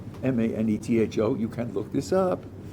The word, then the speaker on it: Manetho: there was an Egyptian priest named, I think it's pronounced Manetho, Manetho, you can look this up, who said that